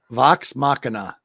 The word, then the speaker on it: Vox Machina: mighty uh no no no uh vox machina vox machina there you said it right perfectly yeah excellent